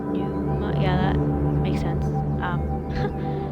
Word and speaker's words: Pneuma: It's called um I guess it's pronounced Numa. P N E U M A. Numa.